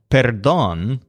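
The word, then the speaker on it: perdón: or the dawn so the exclamation patter dawn where the stress on dawn means sorry or pardon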